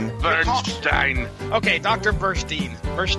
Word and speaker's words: Burstein: and source material history doctor Burstein bu rst ein will be pronounced as the following - Bernstein okay doctor first Eve